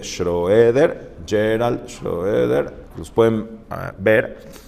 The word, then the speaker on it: Schroeder: videos de gerald scheder se dice en inglés se dice creo que se pronuncia sher pero se escribe schroeder gerald schroeder los pueden